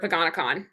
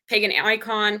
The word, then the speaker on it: Paganicon: And that is the logo of the official logo for Paganakon. So that's how I pronounce it. Um some people pronounce it pag uh pagan icon.